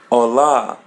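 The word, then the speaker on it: olá: And there a by the end we pronounce it as a ola. As you see there is an accent or asento as in Portuguese. Just open your mouth and pull the sound of a hola.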